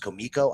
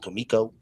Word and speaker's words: Comico: And yes, ladies and gentlemen, it is pronounced Comico.